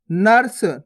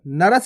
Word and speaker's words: नर्स: ना और सा के ऊपर रेफ की मात्रा, तो कैसे पढ़ेंगे? नर्स। नरस नहीं पढ़ना, नर्स।